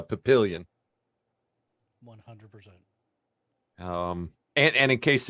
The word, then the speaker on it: Papillion: town next to Omaha that's French for butterfly Papillon yeah yeah but there they call it Papillion yes so it's kind of the same thing you know instead of instead of Papillon it's uh Papillion 100 um and in